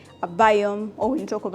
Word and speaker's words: Biome: So if you don't know how to pronounce it that's all right but if you want to know how I would pronounce it it will be a biome.